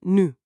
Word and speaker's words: nu: La palabra ahora se escribe nu y se pronuncia tal cual, nu.